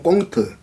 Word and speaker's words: 콩트: 표기는 콩트라고 하고 발음은 꽁트 이렇게 이야기하는데, 또 그리고 요즘은 신문에도 짧은 소설들이 많이 발표되거든요.